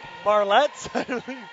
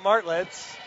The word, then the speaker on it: Martlets: Marlettes? Well, correct some pronunciation. It's the McGill Martlets.